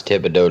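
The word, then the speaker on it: Thibodaux: uh host era right i know how to pronounce thibodeau louisiana it's part of a song wow he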